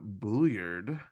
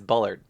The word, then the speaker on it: Bulliard: We knew uh, Bulliard was going to. Did I say his name wrong? Why did I say No, it's you have this first name right. It's Bullard. Bulliard? Bullard.